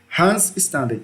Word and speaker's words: Hans Staden: Aventuras de Hans staden e Peter Pan certo Hans staden é a pronúncia certa aí e aí percebam aqui ó